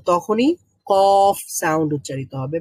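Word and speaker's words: ك: জায়গাতে লেগে উচ্চারিত হবে কাফ। কাফ উচ্চারণ করেন তো, কাফ, কাফ, কাফ। কাফ, আর আরবিতে কাফ, কাফ উচ্চারণ করার সময় একটা বাতাস বের হবে মুখ থেকে, কাফ।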